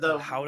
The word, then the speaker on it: Gouda: And it's funny when you were talking about how the pronunciation of the words, like Gouda, that word, Howda. the Howda. Howda.